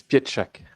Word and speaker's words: Pietrzak: So it's Pietrzak. Yeah, and there is a lot of sh in Polish.